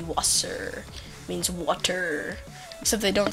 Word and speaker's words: Wasser: and ah water oh you know how you say water in german it's actually wasper sounds like saucer but it's actually wasser means water except they